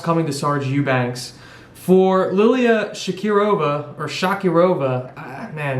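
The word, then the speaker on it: Liliya Shakirova: between lauren murphy and lilia shakirova i believe that's how you pronounce it she's from uzbekistan so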